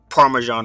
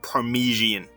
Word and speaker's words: parmesan: the old one is they pronounce parmesan wrong they pronounce it like parmigian and the family [